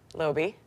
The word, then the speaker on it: Loebe: Last name? Loebe. Rhymes with? Not gonna say it. Floby.